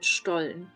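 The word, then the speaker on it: Stollen: it's quite quite similar this is called stol St but the St in standard German is um pronounced as a sh yeah so um both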